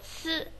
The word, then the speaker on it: 続: 第一个字读作一个次，这个次呢，有一点像那一个一次两次的次哈。